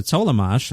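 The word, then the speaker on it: Tollemache: I found out how to pronounce her name, Sarah Tollamache.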